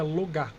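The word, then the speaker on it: Logaeth: É, você escreve logaf, mas na língua angelical você pronuncia logá.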